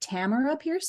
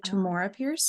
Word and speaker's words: Tamora Pierce: else by um how I've just learned you pronounced it Tamar Pierce instead of Tamora Pierce I was pronouncing it wrong my entire life